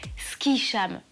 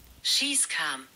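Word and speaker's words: Skischam: Ski-sham. Enfin, je suis pas sûre que ce soit comme ça que ça se prononce. Schießkam. Voilà. Schießkam. Schießkam. La honte de skier, c'est de l'allemand.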